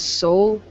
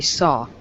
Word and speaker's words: saw: The first ever video that I have created, I said soul, but I was gonna say saw.